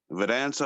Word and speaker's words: Vedanta: nature between the subject and the object uh veranta holds that did i say it right yeah that's right they don't okay vedanta holds the uh that every human being is